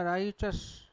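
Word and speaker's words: righteous: और ही बोलेंगे भाई हम इसे बोलते हैं राइट य राइट नहीं होता राइ चस क्या होता है राइ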